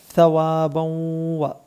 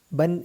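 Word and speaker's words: ثوابا: ന്റെ ഉച്ചാരണം ശ്രദ്ധിക്കുക റബ്ബിക്ക സവാബൗവ ഇവിടെയും തെറ്റിയുള്ള തൻവീൻ നൽകിയിരിക്കുന്നത് അടുത്ത അക്ഷരത്തിലേക്ക് ചേർത്ത് മണിക്കാനാണ് ബൗവ ബൗ ബൻ എന്ന് പറയരുത് സവാബൗവ ഹൈറുൻ ഇവിടെയും നേരത്തെ പറഞ്ഞതുപോലെ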